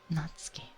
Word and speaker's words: Natsuki: So yes, Natsuki would be the correct pronunciation.